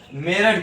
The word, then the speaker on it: मेरठ: मेरठ कैसे लिखा जाता है? मेरुत लिखा जाता है। क्या लिखा जाता है? मेरुत। लेकिन पढ़ा क्या जाता है? मेरठ।